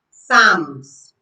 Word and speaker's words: psalms: P is silent when it comes before S in words. For example, psychology. Pneumonia. Psalms. Psychology. Pneumonia. Psal. Now you realize that these words begin with P, but the P sound is not heard.